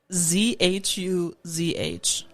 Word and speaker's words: zhuzh: Zhuzh is spelled ZHUZH.